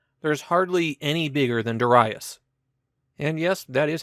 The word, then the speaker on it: Darius: There's hardly any bigger than Das. And yes, that is how it's pronounced.